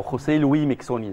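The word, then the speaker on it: José Luís Miquissone: يعني لويس ميكسوني احنا شفناه، او خوسيه لوي ميكسوني زي ما اسمه بيتنطق، يعني شفناه واحد من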